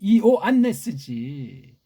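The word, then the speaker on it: Ἰωάννης: 이게 헬라스 발음도 제대로 배달교를 해서 못하고 엉터리 발음도 못하는 서양 발음으로 좌니 뭐 좌니 뭐예요? 좌니 이오 안네스지. 무식한 발음이에요 이거요.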